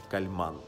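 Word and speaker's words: Kálmán: его называют, Имре Кальман, но вообще по-венгерски считается, что ударение должно быть на Кальман.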